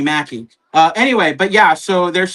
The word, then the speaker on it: Mackie: If I'm mentioning a name, I need to pronounce it right because I'm not gonna be one of those Anthony Macaki guys when they're saying Anthony Mackie.